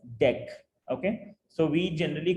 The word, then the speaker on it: deque: the end name dq is short for double ended queue and is usually pronounced as deck okay so we generally call it as dq dq dq but the